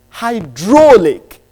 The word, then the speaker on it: hydraulic: And your word is, in truth, it's got 3 syllables. But the lexical stress is on the second syllabic structure. It's hydraulic. HYDROLIC.